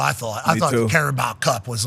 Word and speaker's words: Carabao: By the way, that was caribou, Carabao. but it's spelled caribou. Spelled the animal. BAO. Carabao.